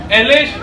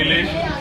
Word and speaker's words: इलेश: सबसे पहले तो इलेश बोला, नहीं इलेश, एलेश नहीं इलेश।